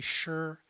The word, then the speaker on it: Sze: my last name pronounced it's in mandarin it's actually sure it has fong on